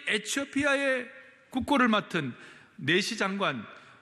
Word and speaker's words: 에티오피아: 일어나 가서 보니 27절에 에티오피아 사람 곧 에티오피아, 제가 에디오피아를 에티오피아라고 읽겠습니다.